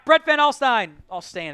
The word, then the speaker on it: Alstyne: Alstain, if you're going to pronounce it.